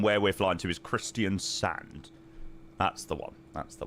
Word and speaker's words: Kristiansand: Christianson. No, Christian Sunund and Christian Sand are two separate places. Christian Sunund is in the northwest of Norway and where we're flying to is Christian Sand.